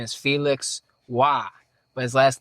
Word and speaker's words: Roy: It's like how that last name where French people spelled Roy, R-O-Y, and it's pronounced Wah.